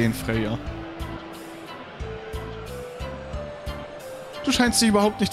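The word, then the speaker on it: Freya: es eigentlich freier oder spricht man es eher freier ich glaube man spricht eher freier also zumindest habe ich mal so eine so eine Serie gesehen mit so so Nord wo auch jemand freer hieß und so geschrieben wurde und die haben es auch so ausgesprochen so um die drei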